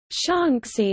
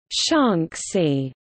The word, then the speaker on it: Shaanxi: Because the Mandarin pronunciation of Shaanxi and its eastern neighbor Shanxi differs only in tone, their spelling in Pinyin romanization differs only by tone marks, Shanxi and Shanxi, respectively.